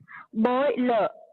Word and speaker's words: boiler: R alone is silent. Okay, ma'am. R is silent, but then it is not boil. It's boiler. So it ends with a sound.